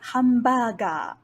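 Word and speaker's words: ハンバーガー: Next, even though this sound isn't the first in the word, it is a borrowed word into Japanese from English, so we do not want to use the bidakuon sound. This word should be pronounced as hamburger.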